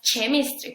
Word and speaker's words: chemistry: bueno tiene diferentes sonidos en estos casos no se pronuncia la H ahora vamos a ver